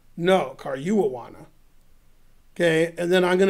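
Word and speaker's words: Caruana: Karmiawana? No, Karyuwawana.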